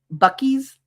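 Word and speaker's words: Buc-ee's: Bucky's is how it's pronounced.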